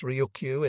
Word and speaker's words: Ryukyu: The Luchu Islands, Chinese for the characters pronounced Ryukyu in Japanese, were officially recognized as a client state of the Chinese Empire.